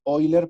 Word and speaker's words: Euler: Este número de E se conoce como número de Euler, lo van a encontrar escrito como Euler, pero se pronuncia Euler porque es alemán, creo.